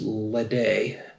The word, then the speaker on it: Ledaig: for the day now I'm basing that on the pronunciation of Laphroaig I'm guessing this is ledee led AIG I'm sure